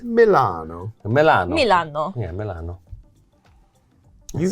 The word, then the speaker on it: Milan: Everyone's saying Milan the American way because they've heard Chris say Oh, so. how do you say it? We say Milan.